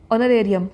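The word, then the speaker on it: honorarium: जा रही हूं मैं ओनरेरियम ठीक है ओनरेरियम ऑनर नहीं बोलेंगे वो तो इसका साइलेंट होता है ना ऑनर बोलते हैं ओनरेियम ओके नेक्स्ट हमारा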